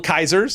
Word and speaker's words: Caesars: profit for sure so Little Caesars or I pronounce it little Kaisers yeah it's not the